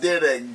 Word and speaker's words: Dyrdek: It's all Rob Dyrdek, D-Y, I don't know how to spell. Oh, D-Y-R-D-E-K. I don't fucking know how to spell that shit. Oh yeah, yeah. D-Y-R-D. Dry dick.